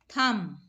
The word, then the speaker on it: thumb: Thumb. In this word, b is silent. Th, thumb.